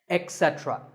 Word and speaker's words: etc: number three is etc a very common in correct pronunciation is to say ech etc instead of it don't say that and also remember that